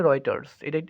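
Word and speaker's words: Reuters: আর ই টি ই আর এস রাইটারস এর উচ্চারণটা হবে রাইটারস এটি কি এটি হচ্ছে একটি পত্রিকা 15ই ডিসেম্বর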